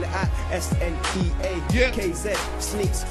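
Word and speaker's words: Sneakz: Spell it out, S-N-E-A-K-Z. Sneaks, say it, Sneaks.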